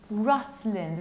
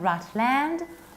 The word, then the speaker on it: Rutland: Whenever you have land as a separate word, you pronounce it like land, land. But whenever this word makes part of something bigger, we have to reduce it. That's why we say Rutland, not Rutland, but Rutland, Rutland.